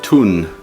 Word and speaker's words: Thun: family and um went to the town of tun that's how you pronounce it t-h-u-n here's a little uh